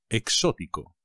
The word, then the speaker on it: exótico: cansado exhausto exotic Coconut exótico cuidado con el acento exótico me gusta mucho